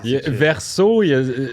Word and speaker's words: Versos: Ouais, non, Verso, c'est ça. C'est verso au pluriel, alors le S, moi, je le prononce pas.